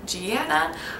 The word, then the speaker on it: Gianna: Gianna is an Italian short form of Giovanna, which means God's grace. It's a form of John. This name is also sometimes pronounced Gianna or Gianna.